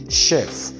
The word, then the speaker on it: chef: adopted in english language is ch other pronouns as sh because as our french pronounce it so we don't say chef we say chef we say shifon we say suffer sachet and you say sashi so this is chassis not chassis and then the next one